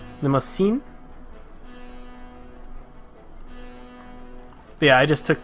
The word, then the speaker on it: Limousin: It's an S, and the way you pronounce is, the way you pronounce in is the real issue. Limousin.